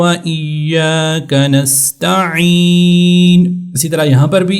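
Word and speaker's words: نستعين: ہیں نستعین، ایاک نستعین، تو نستعین اس طرح عین گلے سے عین نکالیں گے تب جا کر اس کا صحیح طور سے تلفظ ہوگا، اہدنا الصراط المستقیم۔ اسی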